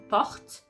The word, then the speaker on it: porte: So here, again, because the O is not the last sound of the syllable, we're going to open it to welcome the other sounds. That's the reason why you're going to say porte.